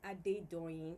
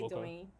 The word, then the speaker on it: Adedoyin: Okay, Yeah, I said, my bad. Do the real pronunciation. Okay. I think. Well, it's really Adedoyin. Okay. Adedoyin.